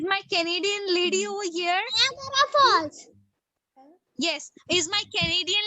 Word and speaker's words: Niagara: The Niagara. Niagara. Niagara. बोलिए. Niagara. Niagara Falls. Falls. F-A-L-L-S. Falls. Niagara Falls. Okay. Once again, Niagara. Niagara. Niagara. No, beta, A is also there.